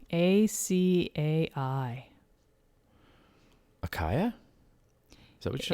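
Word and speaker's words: açaí: heard that word before in my life really akai no no but acai i mean you must have seen it written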